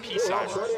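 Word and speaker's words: Psimer: Well, with my last name being pronounced P-Simer and being spelled P-S-I-M-E-R, you can only imagine the variations on that I heard.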